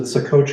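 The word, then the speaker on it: Ottauquechee: Is it Ottauqueche? Is that the right Yes, it is.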